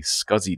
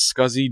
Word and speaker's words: SCSI: And now this big connector, this is the drive for the SCSI disk. So now we do pronounce it as SCSI generally, but it is SCSI.